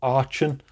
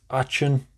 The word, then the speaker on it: Aachen: So this is the Laco Aachen. I hope I'm pronouncing that right. Aachen.